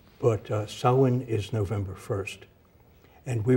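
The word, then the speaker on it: Samhain: uh what the Patriots will do all right sawin and U but sawin is November 1st and we were told that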